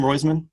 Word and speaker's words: Roizman: owen owen roysman's that he pronounced his name roizman sean yeah i think